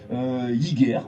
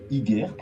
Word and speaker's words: Hygger: C'est la marque Hygger, voilà, ça s'écrit H-I-2-G-E-R, Hygger.